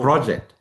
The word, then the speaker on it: project: Now, project, which syllable is longer? Pro. Project. Pro is longer.